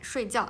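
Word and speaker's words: 睡觉: 睡觉 Okay, 睡觉. And here, this one. Okay, so we can see the tones is different, but the syllable is same.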